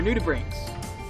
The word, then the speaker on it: nudibranch: These are nudibranchs. Nudibranch? Nudibranch. What? Nudibranchs. So Well, it's they should get spelled used to like- breaks. It's spelled more like nudibranch. I believe it's a hard CH sound.